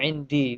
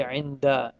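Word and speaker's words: عند: And you don't say indi, you say inda.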